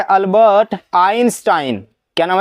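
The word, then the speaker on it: Albert: पूरा नाम है अल्बर्ट। हां। बीच में र भी होता है लेकिन र होता है साइलेंट। हां। अल्बर्ट लेकिन आर साइलेंट हो गया।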